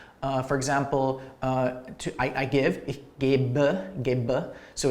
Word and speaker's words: gebe: It becomes an E ending, which is pronounced like a schwa. For example, I give, ich gebe, so it's an ending.